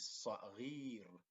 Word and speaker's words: صغير: So in order to have the double E sound, the previous letter to the long vowel ya needs to have this kasra. غير, not غا, not غو, but غي.